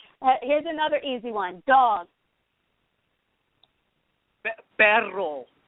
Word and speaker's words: perro: Perro. With the r.